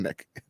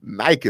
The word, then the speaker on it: Nike: Sorry, not Nick. Like Nick would be totally wrong. Nike is what it is. Yeah, because you could get Nike from the way it's spelled.